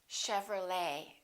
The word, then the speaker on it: Chevrolet: A few more ET endings. Bouquet, like a bouquet of flowers. Buffet. Valet. And one more, Chevrolet. We don't say Chevrolet.